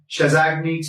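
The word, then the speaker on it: Chassaignac: a tubercle called as chesnic tubercle chesnic tubercle that is also spelled some anesthetic spell it as or some anesthetics pronounce it as shazni Tule anywhere any Vis guys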